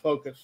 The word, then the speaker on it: FOKOOS: i asked her and she said no it's pronounced focus so okay the reason